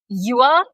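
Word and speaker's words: dừa: It's pronounced a bit like Yeah. Yua.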